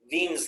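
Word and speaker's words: Wien: and that's described by veen's law with the w but you pronounce it with the v and it's written in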